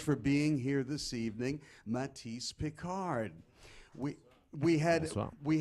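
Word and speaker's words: Mathis: of the name so it's pronounced like the painter it's spelled like the singer m- a t h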